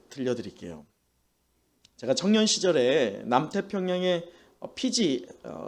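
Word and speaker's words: Fiji: 제가 청년 시절에 남태평양의 피지 정확하게 말하면 F 발음이어서 삐지라고 하는데 피지라고 하는 나라에서 9개월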